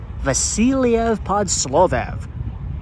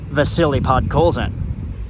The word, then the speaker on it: Vasili Podkolzin: about former Vancouver Canucks 10th overall draft pick Vasili Podkolzin or as his name is actually pronounced, Vasily Podkolzin.